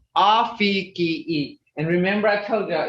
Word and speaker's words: afke: If you look at this, it's AFKE, but that's English. That's English. That's not Muskogee. Okay, so you would say Afiki.